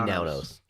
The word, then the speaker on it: Menounos: Maria It's But it- Menounos. But it's pronounced Menounos.